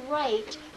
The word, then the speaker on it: right: stick raped good alright in that word right everyone telling me what letters are silent everybody G H all right let's have